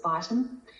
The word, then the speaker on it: Beighton: So there is the Baton score or the Beighton score. I think in the US they pronounce it Beighton.